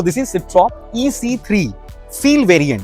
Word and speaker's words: Citroën: सिट्रॉन बोलते हैं कि सिट्रॉ बोलते हैं? Citroën. I think Because it's a French में N pronounce नहीं तो इट्स अ होता। सिट्रॉ। Citroën.